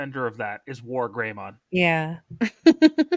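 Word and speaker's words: WarGreymon: Rizwan, being a stupid kid, thought they said his name was More Greymon, not War Greymon. Now it's, No, don't laugh at him. That they actually pronounce it like that.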